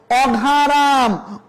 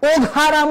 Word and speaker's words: অঘারাম: অঘারাম, ওঘারাম বলা যাবে না, বলতে হবে অঘারাম।